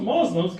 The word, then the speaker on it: Muslim: Because till today, every news outlet, Muslims, those Muslims, come on, man, just get this right. Muslim, it's not that hard. Muslim. 2 syllables, right? 2 syllables.